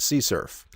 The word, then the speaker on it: CSRF: forgery or X SRF sometimes you'll see it written as CSRF and it's pronounced c surf all right so that's